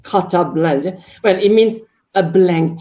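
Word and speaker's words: carte blanche: have caught as a french hope as i pronounce the correct cutter blanche well it means a blank check to do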